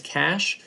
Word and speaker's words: cache: right and finally its cache and that's how you pronounce CA CH e cache it is a super